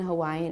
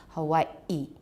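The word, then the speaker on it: Hawaiʻi: So we pronounce Hawaii in Hawaiian as Hawaii, Hawaii.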